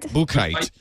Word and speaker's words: Buchheit: Paul Buchheit? Buchheit.